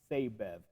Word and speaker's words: Sabev: And I've been pronouncing in his name Sabev, I believe, but I have been corrected, and his name is officially pronounced Sabev.